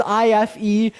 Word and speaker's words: Ife: That is IFE, pronounced Ife.